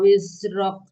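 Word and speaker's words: وزرك: Wa wada'na angka wizrok. Ya, angka wizrok. Wa wada'na angka wizrok. Ya, jangan wis ya, Wiz. Wiz ya. Ya, Wiz. saya bukan sin ya, jangan wis tapi wiz.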